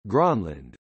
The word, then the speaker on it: Grønland: Greenland, Greenlandic, Kalalit Nunat, pronounced Kala it Nuna T, Danish, Grønland, pronounced Kane Lane, is an autonomous constituent country of